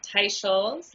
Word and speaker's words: Teicholz: for our listeners um it's pronounced ta shols like a Tai wear in Dr Scholl's shoes that is the best